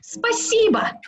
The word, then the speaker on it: спасибо: Спасибо.